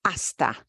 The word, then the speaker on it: hasta: practice our greetings again hasta is spelled with an H but we don't pronounce it see you later hasta manana see you tomorrow